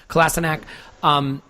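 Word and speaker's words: Kolašinac: and by the way, yes, we have changed that pronunciation because, as I understand it, that's how he wants to be called, so Kolasinac, taking him out, and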